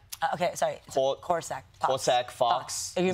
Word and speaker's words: corsac: Kung Fu Panda 4, because you play a Korlak. Okay, sorry. Corsac. Corsac fox. Are you mispronouncing it on purpose?